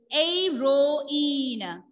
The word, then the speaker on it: héroïne: I am not pronouncing the H sound here. Why? H is silent here.